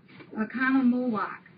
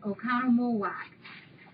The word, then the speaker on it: Oconomowoc: The name of her city is an old Indian name, and it's pronounced Oconomowoc. I think I said it right. Oconomowoc, Wisconsin.